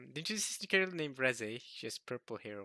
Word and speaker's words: Reze: But Reze, which is, by the way, that is the correct pronunciation, because that's how it says in Japanese.